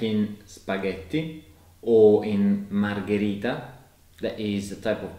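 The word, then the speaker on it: margherita: a good sound like in spaghetti or in margarita that is the type of pizza mm-hmm yes and these words are both pronounced with G H in the middle so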